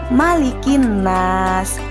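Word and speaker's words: ملك الناس: Mas ingat ya anak-anak huruf mim yah tidak boleh dibaca panjang misalkan malikinnas itu bukan yang benar adalah malikinnas malikin trust and anak-anakku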